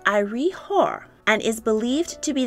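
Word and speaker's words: Iry-Hor: artifacts from the 32nd century bc it is pronounced ire hor and is believed to be the name of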